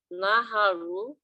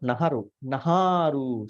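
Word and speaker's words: nahāru: Here, when you pronounce the 7th one here, not Naharu, see, there's a, what do you call, there's a long A of it. Naharu, Atti, Mansang, Naharu, Atti Minjang, Vakang.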